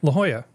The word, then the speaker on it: La Jolla: La Jolla. That's how you say it. L-A-J-O-L-L-A. But It's like Spanish. It's Spanish functional. It's in You say J with Espanol. the H.